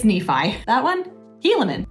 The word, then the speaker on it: Nephi: What's this? Nephi? It's Nephi.